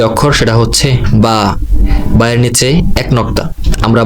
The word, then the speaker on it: ب: বায়ের উচ্চারণ কোনো টান ছাড়া স্বাভাবিক এক আলিফ হবে, যেমন বা। আমি আবার উচ্চারণ করছি বা।